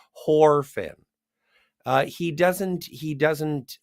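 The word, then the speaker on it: Whorfin: emelo lazardo or John warin uh he's not or pardon me I meant to pronounce it correctly horin uh he doesn't he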